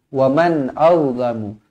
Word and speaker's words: وَمَنْ أَظْلَمُ: Jadi bacanya waman au, jangan waman au, waman au, tak nak. Itu dengung, sedangkan yang betulnya adalah jelas. Waman auzlamu, waman auzlamu, wa okay?